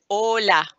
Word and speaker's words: hola: say hola but no we don't pronounce the h in spanish so you can just say hola right so every time